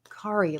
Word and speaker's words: Ki: Ki like Atari.